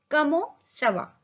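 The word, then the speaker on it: comment ça va: कमो सवा, कम en का साउंड ओ और टी साइलेंट, तो ये बना कमो। सी के नीचे से दिया है तो सी का साउंड क्या हो जाएगा, क के बजाय स हो जाएगा। और वा, कमो सवा।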